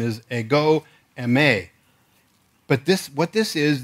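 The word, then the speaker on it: ἐγώ εἰμι: a some people say a go Emmy I think they're putting me as my wife likes to say the emphasis on the wrong syllable because that's the way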